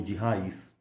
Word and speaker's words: Rais: Aqui vem os grandes julgamentos de magia, em especial o caso de Giles de Rais. ou de raiz. Já vi pessoas pronunciando dessa maneira também.